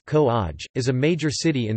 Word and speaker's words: Kovai: Coimbatore, also known as Kovai, pronounced Ko-aj, is a major city in the Indian state of Tamil Nadu.